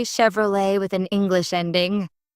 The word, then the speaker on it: Chevrolet: I noticed people say Chevrolet with an English ending. The French origin makes it Chevrolet, not Chevrolet.